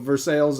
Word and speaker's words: Versailles: it's Lima Ohio well that's why we say for sales instead of first yeah yeah so for sales uh Ohio instead of Versailles uh we got we